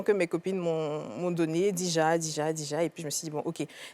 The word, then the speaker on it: Deeja: Donc, je vais utiliser ce côté-là de Kadija pour m'appeler Dija, mais j'ai juste changé la façon dont ça s'écrit. Ouais. Au lieu de D-I-J-A, j'ai mis D-2-E-J-A pour styliser ça un peu.